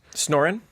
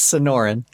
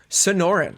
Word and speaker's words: Sonoran: It is Snorin? it's Sonoran. Sonoran.